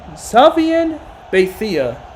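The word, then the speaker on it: Xavier Beitia: I'm sure some people had to try to, Florida State had to try to pronounce Xavier Batia's name on the Florida State Seminoles. It's Bethia. It's actually Xavier Bethia.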